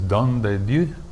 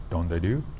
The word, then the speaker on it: Don de Dieu: This is Don de Dieu from Unibroue, which rhymes. Unibroue, Don de Dieu.